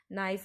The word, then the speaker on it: knife: In this word, this K letter is silent. So we pronounce it like knife.